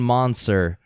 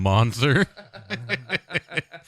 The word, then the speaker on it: Moncer: the disappearance of Leon monster I don't know if that's a pronounce it it's mo and CER so the disappearance of Leon